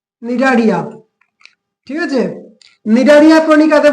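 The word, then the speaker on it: Cnidaria: দেখো বানানটা দেখে নেবে, সি এখানে সাইলেন্ট আছে, নিডারিয়া।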